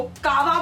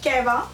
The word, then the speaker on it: कहवा: मेरी इस चाय को कावा बुलाते हैं, क्योंकि उनके लिए कश्मीरियों की ये चाय इज कॉल्ड एज कावा, बट the true pronunciation is कहवा।